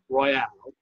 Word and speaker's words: Royale: But this particular one, the Gurkha Real, and it's pronounced Royale, all right, which means royal, right?